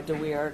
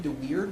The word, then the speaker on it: DeWeerd: Well, I think I'm bound by DeWeerd, and that's spelled D-E-W-E-E-R-D, and that is 511 Mich 979.